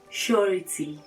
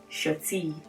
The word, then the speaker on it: surety: the debts you've borrowed so it is surety surety surety and not shorty so guys the third